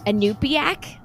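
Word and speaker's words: Iñupiaq: And you shared that, let me see if I can pronounce this correctly, Inupiaq Eskimo?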